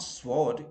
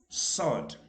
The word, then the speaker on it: sword: sword that is absolutely wrong it is not sword it is sought okay r is silent in any case so sword not sword